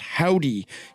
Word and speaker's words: Hovdy: It is pronounced Howdy, even though there are two V's in it, much like the band Always. Hovdy.